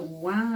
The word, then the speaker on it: war: And the wah and wah. Yeah. Now, the spelling of that Yeah. in accepted English, you want to say war, as in World War III or whatever, but it is pronounced wah.